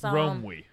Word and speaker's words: Romwe: So it's Romwe? So it's Romwe. Spell that.